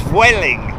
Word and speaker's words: Vueling: Someone said the other day, the correct pronunciation for the Vueling, as we called it, is Vueling. V-W-E-L-L-I-N-G is what I'm basically saying. Floating this way.